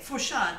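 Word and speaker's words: Lafourcade: Fourcade, that's right. That is the right way to say that.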